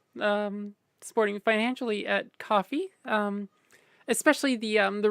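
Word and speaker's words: Ko-fi: a weird feeling um just realized it's uh pronounced coffee because it's buying a coffee yeah so I don't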